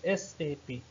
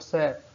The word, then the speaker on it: SAP: It is a initialization, not an acronym. Therefore, it is pronounced as individual letter SAP. SAP is not pronounced as the word SAP.